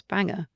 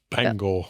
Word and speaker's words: Bangor: Is that how you pronounce banger? Bangor.